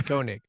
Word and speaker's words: Koenig: It's Koenig.